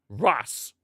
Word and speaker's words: Racing: It's pronounced as ass, but with an R in front. Ras. Okay, Ras. Racing.